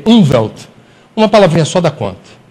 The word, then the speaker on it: Umwelt: Na Alemanha, eu não vou pronunciar do jeito correto, mas é U-N-W-E-L-T, Umwelt.